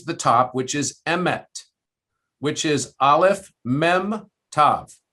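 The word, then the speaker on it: אמת: And so basically they would stamp Aleph, Mem, Tav on top of the head, which interestingly is pronounced Emet, Emet.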